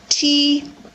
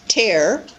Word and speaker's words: tear: This one happens to be T-E-A-R, not pronounced tear. In this case, it happens to be pronounced tear. We do have the verb to tear a piece of paper, for example, but this one is when we cry a tear.